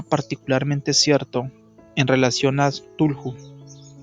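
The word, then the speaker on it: Cthulhu: Esto era particularmente cierto en relación a Tulhu. Se pronuncia Zulu.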